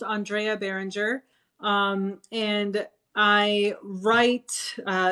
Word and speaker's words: Andrea Barringer: over here honestly um so that was actually pronounced andrea behringer um and i write uh sci-fi it's really